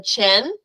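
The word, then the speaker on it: Qin: tells you immediately that the chin which is spelled q i n and the Han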